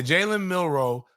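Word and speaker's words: Jaylen Milroe: tweet bro Jaylen um was it jayen milro is that how you say his name yeah jayen milro plays quarterback like every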